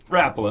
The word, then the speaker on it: Rapala: And that's where you start to use the original Rapala.